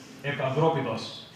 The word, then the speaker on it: Epaphroditus: I've heard people say Epaphroditus. Put up your hand if you say Epaphroditus. Okay, so we're going to say it right from now on. Okay, you with me? Epaphroditus.